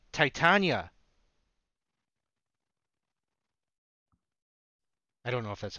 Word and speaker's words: Titania: Titania.